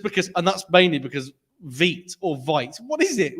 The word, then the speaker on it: Vite: just because, and that's mainly because Vite or Vite. What is it? Which one is it? Vite. Veet. I've only ever heard people Vite. pronounce it as It's Veet.